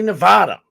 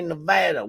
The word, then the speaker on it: Nevada: Same thing with Nevada. We say Nevada. Honestly, I think it sounds better as Nevada. But when you're in Nevada, you better say Nevada. We say Nevada around these parts.